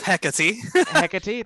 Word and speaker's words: Hecate: to say my own class name he didn't pronounce the planet name for me it's hecate thank you on the planet hecate as a